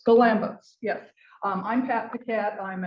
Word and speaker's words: Galambos: Today's presentation, Introduction to Bonsai, Horticulture, Techniques and Art with, and I didn't ask you how to pronounce. Oh, Galambos. Galambos, yes.